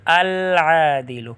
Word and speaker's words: العادل: انصاف کرنے والا، العادل، کیونکہ عین حروف قمریہ میں سے تو لام پڑھا جائے گا لکھا بھی جائے گا، لام پر تلفظ ہوگا العادل۔ غفور بڑا بخشنے والا،